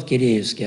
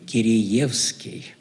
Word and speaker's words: Киреевский: извините, но вы знаете, здесь у нас принято говорить Киреевский, а не Киреевский. Я помню, потом лазил в энциклопедию, смотрю, там стоит два ударения. То есть и то, и другое. Но местное именно произнесение, именно Киреевский.